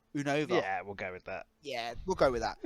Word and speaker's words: Unova: Next one is the region I struggle pronouncing. Uh it's Unova. Unova.